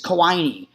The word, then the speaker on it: Koine: And I don't know if this is pronounced 100% correctly because I don't speak Greek, but I believe it's Koine or Koine, Koine.